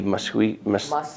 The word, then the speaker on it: Muskellunge: But the Yellow Lake and the Muskellunge is how you say it.